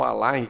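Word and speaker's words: align: é bem característico tá em inglês é a l i GN tem gente que escreve Aline assim ó al não é al al tá nem se pronuncia esse esse G abro fecho aspas duplas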